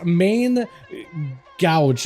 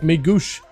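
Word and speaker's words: Main Gauche: It's main gouge, at least. That's how I would pronounce it normally, but it's French. It's like Megouche. Megouche, I think. I don't... There's gotta be... I've never heard anyone else try to pronounce it. I've just heard my comment section in my chat telling me, get Dal, it's main goosh.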